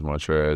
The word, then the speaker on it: Montrezl: uh, people seeing that, they always think they got to pronounce every letter in my name, though. Um, and then when I correct them and tell them it's Montre and, you know, then they